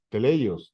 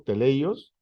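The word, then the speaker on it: τέλειος: es la palabra t teleos teleos Disculpen la pronunciación la corrijo teleos que esta esta palabra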